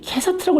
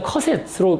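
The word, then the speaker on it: Cassatt: 그래서 이게 발음의 표기법이 캐서트라고 이렇게 나와 있는데 이게 안만 들어봐도 발음상 그냥 커셋으로 하는 게 맞습니다. 커셋, 메리 커셋.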